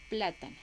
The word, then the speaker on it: plátano: estén Entonces por ejemplo plátano también tiene tres sílabas entonces tiene la esta también iría en la antepenúltima quedaría plátano entonces la palabra plátano